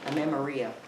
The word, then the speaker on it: amenorrhea: It's called, I believe it's pronounced amenorrhea, which is where the cycle will just stop.